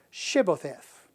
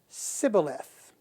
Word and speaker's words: Shibboleth: And if he said no, then they would say to him, "Say now, Shibboleth." But he said, Sibboleth, for he could not pronounce it correctly.